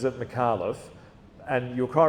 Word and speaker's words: Micallef: And when I was on SBS, when I was doing Newstopia, I would pronounce it correctly. I would absolutely, Shaun Micallef.